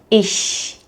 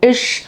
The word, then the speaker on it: ich: Most beginners automatically replace this sound with a sh sound, so with the lips moving more to the front. So, ich turns into isch or richtig sounds like rushtish.